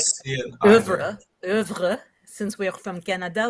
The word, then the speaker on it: oeuvre: oeuvre, oeuvre. Since we're from Canada, we can pronounce it properly, Oui, oeuvre.